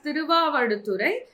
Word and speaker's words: Thiruvavaduturai: It is pronounced as Thiruvavaduturai, which is not very important for exam.